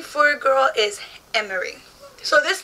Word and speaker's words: Emery: girls, and it had Emery, E-M-M-E-R-Y. And at first I was like, how do you pronounce that? Like, you know, so I put it in the Google Translate and it said Emery.